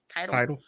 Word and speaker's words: Tidal: Tidal. It's tidal, like a tidal wave.